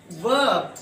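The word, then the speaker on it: verb: हाँ, वर्ब नहीं कहते, इसमें भी आर साइलेंट रहता है। वर्ब ऐसे बोलेंगे।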